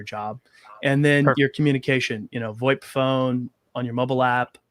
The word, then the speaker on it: VoIP: How do you pronounce Monster it? VoIP, yeah. Monster VoIP.